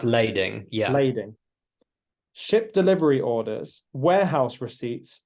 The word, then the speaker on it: lading: promissory notes bills of is it bills of lading or Landing I believe is is pronounced lading yeah ship delivery orders